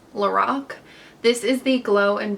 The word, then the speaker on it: Lorac: This is from, okay, I always say Lorac, but I'm pretty sure it's pronounced Lorac.